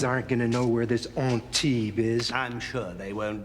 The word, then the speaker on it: Antibes: However, you might find the line more palatable if you pronounce the last word as Antibes.